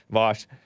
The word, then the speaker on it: Vaush: James Coons of Modern Day Debate was talking about, oh, maybe Hunter is going to contact Destiny or Vaush. He pronounced it, he spelled it Vaush. Vosh.